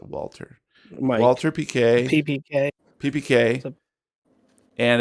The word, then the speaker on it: Walther: that a thing yep is that waltz or walther i think it's called walter yeah walther yeah i think they pronounce it walter walter pk ppk ppk